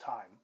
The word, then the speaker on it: T31M: He his name is pronounced time.